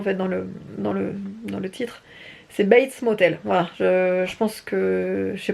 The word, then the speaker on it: Bates Motel: bates motel base là je le prononce bien bates motel ce que j'avais et j'ai été reprise plus d'une fois parce que j'avais dit batel ce motel ce mais je m'étais